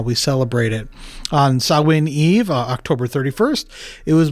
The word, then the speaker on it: Samhain: But the Celtic festival, we sometimes pronounce it Samhain, but I think it's traditionally called Samhain.